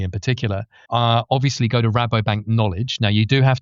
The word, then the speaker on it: Rabobank: Well, for us, it's Rabobank. If you're Dutch, it's Rabobank, and I always get confused between the two.